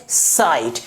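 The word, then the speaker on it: site: जैसे ही हम लोग ई ऐड कर देते हैं तो इसकी प्रोनाउंसिएशन क्या हो जाती है? साइट।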